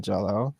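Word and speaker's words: Green Jellÿ: Jello or green jelly it's pronounced Jello but it's spelled jelly but um I can't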